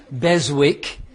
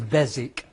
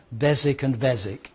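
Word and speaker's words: Beswick: it should be pronounced bezwick but it's not. The W is silent. It's a silent W. So the the pronunciation is bezic. Bezic and Bezic.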